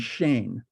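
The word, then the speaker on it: Shein: stuff there's Zara h m Forever 21 and Shane which is a Chinese company it's spelled s-h-e-i-n uh what this has led to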